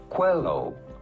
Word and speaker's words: Coelho: How do you go about pronouncing his name? Paulo Coelho.